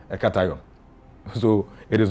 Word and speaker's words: cation: very long time whenever I saw this I pronounce that kin until someone told me that no it is not called kin it is called a cat so it is not a laughing matter any